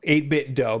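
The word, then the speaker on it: 8BitDo: 8bit dough because it is like Nintendo.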